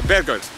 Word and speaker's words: Bergur: so I'm going to do it yeah it's bed guards yeah so tell us how to pronounce that and why I can't believe